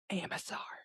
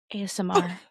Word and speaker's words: ASMR: AMSR. ASMR.